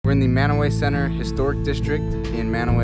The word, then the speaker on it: Mantua: i know it's pronounced m-a-n-t-u-a i think it's like mantua or something like that but locally they say it man away so we're gonna explore